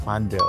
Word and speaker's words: padel: Betul harusnya padel. Padel ya. Padel bukan pedle. Pedel karena pedel kan p a d l e.